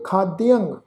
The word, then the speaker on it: खाद्यंग: दूसरा शब्द है जी खाद्यंग, दद्दे नूं सिहारी ऐड़ा अखर, ऐड़े के उपर टिप्पी की मात्रा का नासकी उच्चारण करांगे खाद्यंग, अकरणं क्रोध, अखाद्य, खाद्यंग, असाज्यंग, साज समझिया।